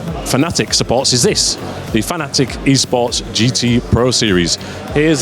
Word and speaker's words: Fanatec: for motorsport fans and yes it's pronounced fanatic but you're officially allowed from the ceo to say fanatec and it's perfectly fine